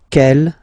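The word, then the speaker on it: quelle: same way and then the feminine form is written like that q l l but it's pronounced like the masculine form k at the masculine Kell at the feminine okay so it's basically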